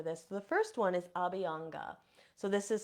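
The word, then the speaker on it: Abhyanga: different ideas for this the first one is abanga so this is spelled a BH y a n g a abanga so this is a type of self massage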